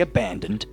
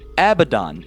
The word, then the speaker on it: Abaddon: So, that doesn't say abandoned, alright? That says Abaddon.